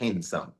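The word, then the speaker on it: handsome: Ivan वास अ हैंडसम मैं हैंडसम नहीं बोल रहा हूं क्योंकि एन के बाद भी साइलेंट होता है ही वास हैंडसम ही वास हैंडसम फेयर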